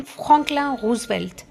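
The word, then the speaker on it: Franklin Roosevelt: अगर आपको इस स्टेशन को इंग्लिश में प्रोनाउंस करना हो तो आप कैसे प्रोनाउंस करोगे? You will say फ्रैंकलिन रूसवेल्ट। Right? लेकिन फ्रेंच में प्रोनाउंस करते हैं फकला रूसवेल्ट।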